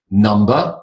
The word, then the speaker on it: numb: do with the other number one two three four five and nummer now I put that in ER and in a yellow color the B because it's a silent B nama anyone know what the